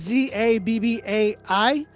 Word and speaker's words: Zabbai: Is it Zabai? Zaba? Zabe? Y'all tell me how to pronounce his name. It's Zabbai. That dude is crazy.